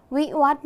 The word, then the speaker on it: วิวัฒน์: ว่า วิวัฒน์ นั่น เอง วิวัฒน์ มี 2 พยางค์ คือ คำ ว่า วิ และ คำ ว่า วัด คำ ว่า พยัญชนะ ต้น คือ